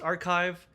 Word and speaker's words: arXiv: It searches ARXIV, pronounced archive, indexes papers, and answers questions with citations.